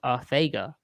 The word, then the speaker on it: Arcega: JJAW has stated his name is pronounced Arthega.